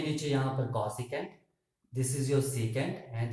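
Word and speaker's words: cosec: ठीक है, नेक्स्ट आपके पास कॉसिकेंट, कॉसिकेंट, सी ओ, कॉसिकेंट स्पेलिंग देख लेना, तो इसको हम बोलते हैं कॉसेक।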